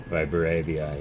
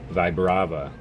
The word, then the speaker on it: Vibrava: Vibravia, yes. Vibrava.